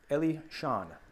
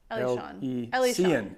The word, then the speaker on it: Elysian: I see it. Elysian. Elysian. That's what I said. I said Elysian. Oh, Elysian. Elysian. It's all good. Elysian.